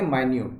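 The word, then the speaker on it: minute: और एक होता है एडजेक्टिव के रूप में माइन्यूट, ठीक है ना, उसको उच्चारण करेंगे माइन्यूट।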